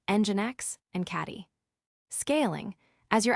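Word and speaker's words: nginx: Common reverse proxies include engine X, pronounced engine X, and caddy.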